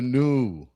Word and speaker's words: Nu: It's new, N U, like it's new. So, but it's pronounced new.